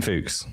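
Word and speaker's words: Fuchs: Yeah, Christian Fooks. It's spelled f u c h s.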